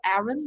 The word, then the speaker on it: Arun: Samantha, Samantha I'm not sure how to pronounce the last name. A R U N, Arun or Arun?